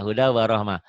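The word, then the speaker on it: هُدًى وَرَحْمَةً: Gimana bacanya? Hudau Warahmah. Nggak apa-apa. Huda warahmah.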